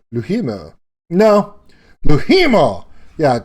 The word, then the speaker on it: Louhimo: Now I say LOUHIMO now because she makes me say it like that. In the interview, you'll realize she doesn't like me saying it in the French vernacular. LOUHIMO.